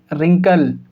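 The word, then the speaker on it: wrinkle: तो यहाँ पर हो गया आर और आर से पहले W, फिर W साइलेंट, आर से पहले W तो W साइलेंट। तो हम इसको क्या पढ़ेंगे, रिंकल, हम इसको क्या पढ़ेंगे, रिस्ट।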